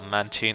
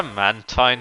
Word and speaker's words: Mantine: think that's enough about manchin and obviously i'm pronouncing it that way because i believe that's how it's officially pronounced i prefer mantine to be honest because it makes more sense but a mystic poker